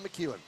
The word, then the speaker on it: McEwen: make sure I get it correct uh Dan McEwen McEwen Anthony Jordan yeah yeah I'll be calling